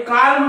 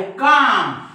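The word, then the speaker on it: calm: त्याच्यानंतर पाम त्याच्यानंतर राईट इकडे बघा कालम कोणी काही म्हणे याला कालम याला बालम याला पालम पण हे कालम नाही हे आहे काम कारण एम च्या वर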